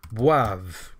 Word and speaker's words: boivent: Boive, because you don't pronounce the ENT.